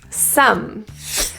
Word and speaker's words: some: you're you're doing great some this word is nothing like it's spelled so that o and e at the end you'd think it'd be soam that would be logical but English so here